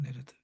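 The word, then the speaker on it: נרד: 우리말에 나드죠. 네레드입니다. 네레드. 어, 네레드 나드. 이 R 발음을 그 레시 발음을 잘 안 하기 때문에 그렇습니다.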